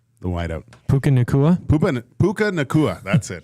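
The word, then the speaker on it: Puka Nacua: you say his name the one white out Puka nikua Puka Puka nikua that's it he's out yeah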